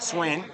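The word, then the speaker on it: Swaen: But Swain, getting ready. He's got a weird way of spelling his name, S-W-A-E-N. But it's Hayden on Hayden here, spelled the same way.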